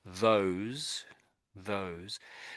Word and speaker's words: those: So those those So the O is making it's it's a long O.